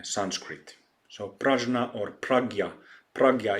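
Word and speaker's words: प्रज्ञा: so prajna or pragya pragya is the correct translation but often um it is pronounced as prajna parameter Perfection of wisdom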